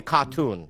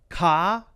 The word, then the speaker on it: cartoon: There's no R when you say it. So Bobby Lee would say cartoon, and Ronnie is saying cartoon. Cartoon. Ka-toon. And Bobby would say car-toon. That's the American pronunciation of the R, and then either the Singaporean or the British pronunciation of the R, ka.